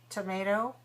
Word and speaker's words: tomato: Think about it. Tomato. How many syllables? Tomato. 3. Which one is stressed? What's the stressed syllable? Tomato. The second one. All right, so the first one is weak to, and the last one is also weak. So we don't want to say tomato.